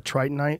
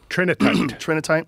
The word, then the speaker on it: trinitite: The tritonite, is that how you say it? Trinitite. Trinitite. When did they first started well, the first discovery of that, it comes from Trinity, New Mexico.